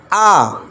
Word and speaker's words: a: খেই ই ওয়াই খি খি শব্দের অর্থ চাবি আ অর্থ একটি এই বর্ণটিকে ইংরেজরা যদিও এই পড়ে